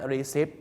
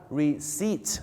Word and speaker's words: receipt: บอก นะ ครับ ว่า ตัว P กับ ตัว B นะ ครับ หลาย ๆ ครั้ง ไม่ ได้ ออก เสียง นะ ฮะ อย่าง เช่น คำ นี้ ครับ คำ ว่า receipt ที่ แปล ว่า ใบ เสร็จ นะ ครับ บ้าน เรา ชอบ ออก เสียง ว่า receive นะ ฮะ receive ไม่ ใช่ receive นะ ฮะ ก็ จะ ออก เสียง ว่า reat นะ ครับ ผม reat นั่น เอง นะ ฮะ เหมือน กับ